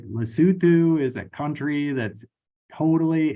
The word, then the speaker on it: Lesotho: Um which I was always calling it Lesotho cuz that's how it's spelled, but Lesotho which it's kind of weird.